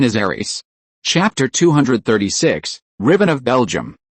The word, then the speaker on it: Ares: The modern English pronunciation is Ares.